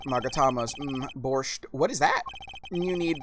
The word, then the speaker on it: borscht: What is borscht?